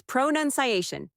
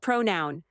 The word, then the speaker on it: pronunciation: It's pronunciation, not pronoun.